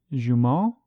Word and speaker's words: Jumeaux: I think it's pronounced Jumeau, which I've looked up, and it's spelled Jumeaux, and so that is French for twin.